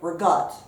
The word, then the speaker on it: ricotta: about 3 cups of ricotta cheese now some people pronounce that regard so either way I drained